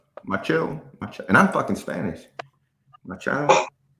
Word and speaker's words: Machado: Machado.